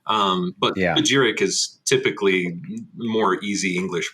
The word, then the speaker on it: Spagyric: Yeah, you can pronounce it Spagyric. Some people also like to make that Y a hard Y and Spagyric. But Yeah. Spagyric is typically more easy English pronunciation for most people.